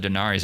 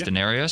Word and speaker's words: Denarius: name from the start I think I said Denarius it's Denarius yep Denarius Roman for